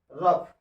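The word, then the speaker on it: rough: अंत में यदि GH आता है तो उसका उच्चारण हमेशा फ होता है। जैसे इसको पढ़िए आप लोग, रफ।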